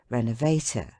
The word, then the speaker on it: renovator: transatlantic delicacy decidedly unquestionable words ending in ato are are commonly accented on the last syllable but one let them be as long as they may as respirator regulator renovator indicator and all the